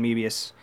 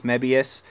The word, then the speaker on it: Mebius: huge fan of Ultraman Mebius and I love when people say I'm pronouncing it wrong it's Mabius guys you got to remember that the Japanese are adopting English words like Sophie or Ultraman